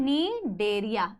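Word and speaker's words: Cnidaria: Problem हो रही है नीडेरिया लिखने में, ठीक है। सीलेंट्रेटा या नीडेरिया, इसको बेटा नीडेरिया नहीं बोलना है, ठीक है, ठीक है, सी साइलेंट है, नीडेरिया या फिर सीलेंट्रेटा,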